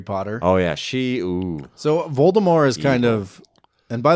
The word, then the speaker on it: Voldemort: oh yeah she so volta more is kind of and by the way it's pronounced Volta more I didn't know that there's no T at the end you don't say the T C you silent well